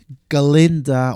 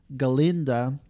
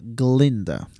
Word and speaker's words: Galinda: how to pronounce gind he was always saying her Glinda Glinda without the a without the A and